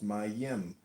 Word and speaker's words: Mem: It's called comment on mem mem pronounced my yim transcribed as m the number 40 meaning water the stable intelligence.